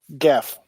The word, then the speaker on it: Geoff: It's pronounced like the G in GIF. Yeah. Geff.